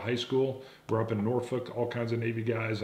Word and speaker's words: Norfolk: We're up in Norfolk, all kinds of Navy guys.